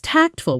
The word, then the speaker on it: tactful: Example: she was tactful when she pointed out the typo, waiting until after the meeting instead of embarrassing him in front of everyone. Pronunciation. Tactful. Stress on the first syllable, short and clean.